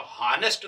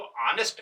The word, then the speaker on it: honest: तो हॉनेस्ट तो नहीं कहते, उच्चारण तो ऑनेस्ट कहते हैं।